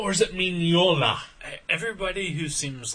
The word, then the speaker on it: Mignola: yeah uh by Michael magola mola is it magnola or is it minola everybody who seems like they're in says minola